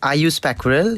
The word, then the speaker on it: Aaysh Pyakurel: One more time, pronunciation of your name. Yeah, my name is Aaysh Pyakurel.